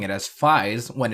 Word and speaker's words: Faiz: I'm pronouncing it as Phi's when it's clearly 5-5-5 it comes from the Greek letter Phi and you can pronounce it fives fives however has been